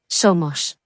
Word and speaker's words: somos: Somos. So this is pronounced so.